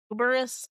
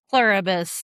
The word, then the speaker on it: Pluribus: Uberus. Pluribus.